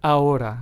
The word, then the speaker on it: ahora: For example, the Spanish word ahora, which means now. Notice how this word doesn't start with the letter H, but we still make the H silent. It is pronounced as ahora and not ahora, right?